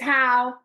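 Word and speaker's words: Haugh: to pronounce that yes it's how um h a u g h correct so even though it doesn't look like it that's how you say it um yes so that's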